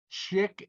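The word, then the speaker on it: Szyk: s-z-y-k right but he was an amazing illustrator chick uh shaver that's how you pronounce okay but it's those those cards were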